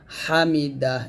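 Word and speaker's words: حمده: সামিআল্লাহু লিমান হামিদাহ এরকম হামিদাহ হাটা চাপ দিয়ে আর এই যে সাকিন উচ্চারণে নিয়ে আসবেন হামিদাহ সামি আল্লাহু লিমান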